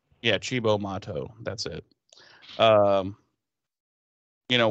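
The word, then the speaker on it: Cibo Matto: to see that weird band that i can't pronounce the name of shibo mod motto yeah chibo motto that's it um you know willow's kind of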